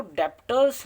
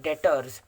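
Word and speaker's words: debtors: देखिए, ये जो डेप्टर्स होते हैं इसको डेप्टर्स नहीं पढ़ा जाता दोस्तों, इसको पढ़ा जाता है डेटर्स, डे प्लस टर्स। और ये जो बी होता है पढ़ने के बाद साइलेंट होता है दोस्तों, सिंपल सी चीज़ है, साइलेंट होता है।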